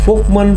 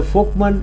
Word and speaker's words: Volkmann: pronounced as fman in folkman es schic contract f is like friend and L is silent man is like Monday so it's a folkman es schic contracture it's